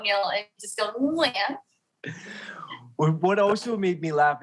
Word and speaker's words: Nguyen: back there like Nguyen, whereas the N in English is on the tip of your tongue, right? Like Nancy, right? So it's total opposites, really, which is why when people always ask me, how do you say your last name in English? You literally can't because they're just different worlds, right? But yeah, so just aim for the back of your throat, Neil, and just go, Nguyen.